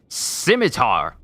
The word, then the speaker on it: scimitar: uh okay scimitar okay so you don't pronounce the c got it maybe i